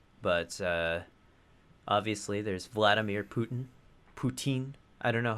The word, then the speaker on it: Putin: Putin. I don't know how to pronounce his name. Putin. Putin. Like poutine, but not Canadian. Canadian. More Russian.